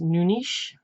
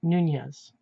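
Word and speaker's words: Nunes: would have been pronounced noonish that would be the mainland Portuguese pronunciation spilled in unes now it's widely pronounced Nunez but anyway it got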